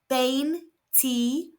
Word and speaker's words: veinticuatro: It's pronounced bane tu. Again the v is pronounced b and the i's are pronounced e.